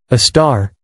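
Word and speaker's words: Sagittarius A*: At its very heart lies Sagittarius A, pronounced a star, a super massive black hole with a mass over 4 million times that of our sun.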